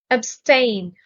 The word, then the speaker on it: abstain: are pardon exempt acquit abstain the stress is on the second syllable abstain means to hold